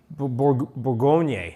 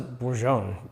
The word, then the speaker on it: Bourgogne: Bourgogne, that's how you pronounce that. Yes, I looked it up. I would not have known. Yeah. I always thought it was Bourgogne. I would have said Bourgogne.